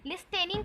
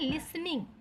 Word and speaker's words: listening: लिस्टेनिंग को हम actually पढ़ते हैं लिसनिंग। यहाँ पास जो टी है ना वो थोड़ा सा साउंड उसका क्या हो जाता है, साइलेंट हो जाता है। साइलेंट मतलब हमें ठीक से सुनाई नहीं देता। जब हम उसे प्रोनाउंसिएट करते हैं, बोलते हैं, तो उसका जो साउंड है वो क्लियरली सुनाई नहीं देता। तो हम इसको लिस्टनिंग नहीं बोलते, लिसनिंग बोलते हैं।